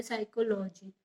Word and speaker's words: psychology: क्यों ग्रीक भाषा में ही, यहाँ देखो पी है ना, पी साइलेंट रहता है।